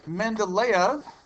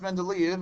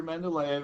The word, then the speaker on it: Mendeleev: first guy is dimitri mendeleev that's not pronounced men to leave i know there are two e's towards the end of that name let's pronounce not leave